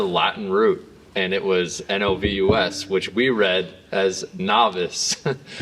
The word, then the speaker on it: NOVUS: Actually, most people pronounce novus the wrong way, which Technically, it's the right way, actually. It's technically the right way because it's Latin for fresh and new beginnings.